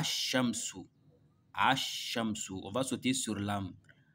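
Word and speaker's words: الشمس: un chat du coup on va lire sans la lettre L avec ses mains à l'écrit mais à la prononciation ça se lit pas on aura à Chamsou on va sauter sur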